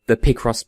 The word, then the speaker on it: Picross: it feels weird saying Picross so consistently, because like I said, in my head I pronounce it Picross, but I know that's wrong, because it's picture, not picture.